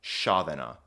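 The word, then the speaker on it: sceaþena: Shadana is how this word is pronounced and then thratum is how this word is pronounced.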